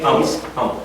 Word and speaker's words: Humble: Humble. Pronounce the H.